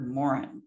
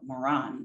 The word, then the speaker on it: Maurin: time that she met peter morin or moran depending on their pronunciation she'd already converted